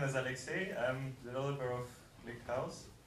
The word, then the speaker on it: Alexey: so um alexa teachers i pronounced it right so my name is alexey i'm developer of click house and my talk